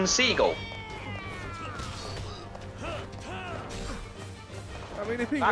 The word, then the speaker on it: Seagal: At this point, if you're going to do them, I should just do Steven Seagal facts. Fact 1, his name is actually pronounced Steven Seagal.